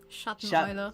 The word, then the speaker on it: Schatteneule: night, which so shadow owl would be how do you pronounce that? Schatteneule.